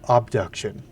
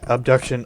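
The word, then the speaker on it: Obduction: can run it, grab Abduction with an O, like abduction but spelled with an O.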